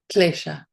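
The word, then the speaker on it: kleśa: In Sanskrit, that's klesha, spelled like this using diacritics.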